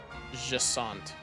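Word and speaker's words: Jacinthe: Jassant. Chat, help me remember that that's how that's pronounced.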